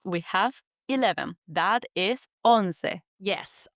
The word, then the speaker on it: once: That is on. Yes, on. It's written the same as the English word once.